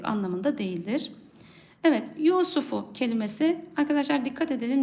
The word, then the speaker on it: Yusuf: okunur anlamında değildir Evet Yusufu kelimesi Arkadaşlar dikkat edelim Yusuf kelimesinde sin harfi uzatılıyor çok fazla sin harfini uzatmadan okuyacağız Yusufu Yusufu diye kısa okunması gerekir yus derken r harfi